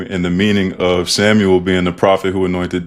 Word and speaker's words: Samuel: So if people call me Samuel, I like if you can, I like for people to pronounce it in Spanish. Samuel.